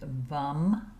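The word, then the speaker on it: वं: The sound here is vum with a V.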